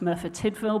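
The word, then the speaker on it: Merthyr Tydfil: England and Wales uh Churchill and it's actually pronounced mura tidel burough Council and this was actually a case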